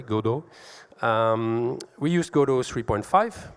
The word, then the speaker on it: Godot: um um you noticed I I pronounce it the French way godo um we used godo